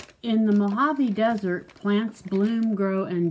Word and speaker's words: Mojave: Mojave. That's the name of the desert, the Mojave Desert. But look, it's spelled M-O-J-A-V-E. Mojave?